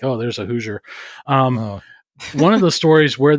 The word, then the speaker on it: Hoosier: and your name is Hoosier, right? Is that how you say it? It's close. It's Hoosier.